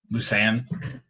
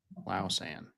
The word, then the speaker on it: Lausanne: It's spelled like I would pronounce it Lucerne Collegiate. Yeah. Lausanne. Lucerne. That kind of makes it sound like Lucerne. Lausanne. Lausanne. It's LA, yeah.